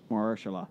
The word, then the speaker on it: Mahershala: do need your help though on this one because I have to pronounce he's a something? great actor. Yeah, Ali from Green Book. Mahershala? Mahershala.